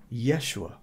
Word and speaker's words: Yeshua: And of course, the shortened form for Yahshua is Yeshua. And that is how you say the name of God if you are speaking Hebrew to a Hebrew-speaking person, Yeshua.